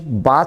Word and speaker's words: bath: BATH बाथ कहलाता है। इसका जो एक्सेंट है, प्रोनाउंसिएशन है, वो है बाथ।